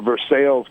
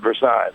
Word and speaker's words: Versailles: have um you know we have a versales Kentucky and not Versailles so all right you